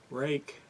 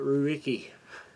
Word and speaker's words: Ruike: wait help me rake yes that's right it's pronounced break and not Ricky which it's a chinese-made knife I know that